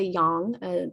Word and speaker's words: yang: Chinese medicine would, or in Chinese, it would be pronounced more like a yang, that ah sound rather than eh.